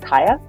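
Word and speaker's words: Kya: this book so strongly the main character of Kaya that's how you say her name is a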